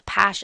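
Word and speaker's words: Paasche: So now let's look at the PASH index. And I have it spelled out phonetically for you here because this is difficult for us to say. We aren't French after all.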